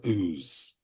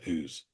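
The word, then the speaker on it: Ouse: I mentioned this because it is spelled o u e and that's what we got throughout this song a veritable River of ooze um more ooze than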